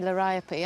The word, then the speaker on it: liriope: I love the way you say liriope. I say liriop, but I mean, I don't suppose it matters, does it?